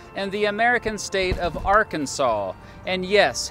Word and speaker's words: Arkansas: Why is it pronounced Arkansas here and Arkansas everywhere else? Simply put, it comes down to how both first got their names.